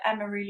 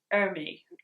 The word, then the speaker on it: Emery: reading it completely wrong I've been pronouncing it early it's Emery the ends after E I don't know why in my head I'm doubled up the letters but I see miss Emory and